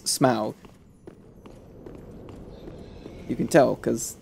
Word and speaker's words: Smaug: I think I said smug. Smog! No, I said smog. Which is not how you pronounce Smaug.